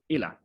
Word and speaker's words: Eyler: was written by our professional lecturer today brian ila i hope i'm pronouncing your name correctly actually yep okay good